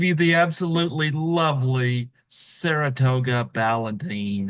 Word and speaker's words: Ballantine: Folks, I give you the absolutely lovely Saratoga Ballantine. How do you do, Well, that's? Valentine. It rhymes with Valentine.